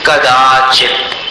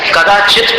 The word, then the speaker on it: कदाचित: चित नहीं हैित हमने ये इशारा भी दिया था आपको किित बोलते ही ऐसा मुंह खोल कदाचित बस कदाचित को एकदम रुक जानी चाहिए आवाज तब वो शुद्ध उच्चारण हुआ कि मंदरा शिखरम चलितम